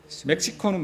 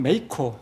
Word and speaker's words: 멕시코: 스웨덴은 원래 스웨리에, 멕시코는 메이코. 메이커. 예, 메이코가 현지 발음이고 멕시코는 영어 발음입니다.